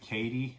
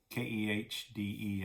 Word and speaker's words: Kehde: a guy named Ned Ned Katie I think is how you pronounce his last name keh de I believe and for years he